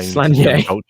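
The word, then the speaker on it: Sláine: Like Slanye, is it, or Slane? Slanye. That's how I googled how you pronounce it, and it's pronounced really Slanye. No, yes. nobody Yes, says Slanye. No, they don't, because they pronounce it wrong.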